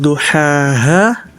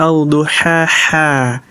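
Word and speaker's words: ضحاها: Pada ayat terakhir An-Nazi'at, seharusnya dibaca sebagai duhaa. Namun Isnaini membacanya sebagai alduhaa.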